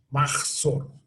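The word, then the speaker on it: מחזור: Hay una J en el medio de la palabra Maxor, que es una J que en hebreo hay que pronunciar fuerte, casi salivando. ¿Ok? Maxor. ¿Ok? Entonces, importante. ¿Ok? No absorberla y hacer como que no está, sino enfatizarla.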